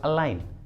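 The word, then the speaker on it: align: अगला एग्जाम्पल देखिए अलाइन, अलाइन, इसमें भी एन के पहले जी आया है तो जी को प्रोनाउंस नहीं करेंगे, इसलिए इसका सही उच्चारण होगा अलाइन, अलाइन।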